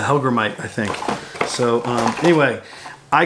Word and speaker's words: hellgrammite: Niko the hellgrammite and it's not pronounced was I heard a guy say the other day he'll grant it it's a hellgrammite I think so anyway